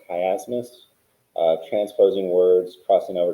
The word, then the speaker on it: chiasmus: had been elected um i just realized i pronounced the strong it's actually pronounced chiasmus uh transposing words crossing